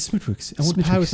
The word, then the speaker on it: Smithwick's: Say it like Stewie does Cool Whip. Smithwick's. Smithwick's. It's Smithwick's.